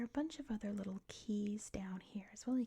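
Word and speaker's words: cay: In the Bahamas, it's spelled C-A-Y. So it is pronounced Key.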